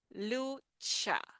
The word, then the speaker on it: lucha: So this CH combination, okay, it's a sound that we have, it's very typical of Spanish, similar to the one that we make in English for chip. That is the sound. Lucha, lucha. Sometimes it's pronounced a little softer. We don't have to emphasize as we emphasize in English, but it's lucha, lucha.